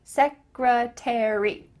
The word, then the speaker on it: secretary: Same with the word secretary. In British English, they kind of link those all together, but in American English, we say each one. Military, secretary.